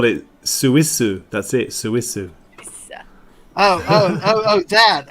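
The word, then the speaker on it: スイス: they just call it Suissu. That's it, Suissu. Oh, that. Okay. And is that how it's spelled?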